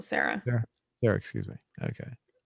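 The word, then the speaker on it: Cera: down after uh mike well you pronounce uh michael sierra is that sarah yeah michael sarah yeah there excuse me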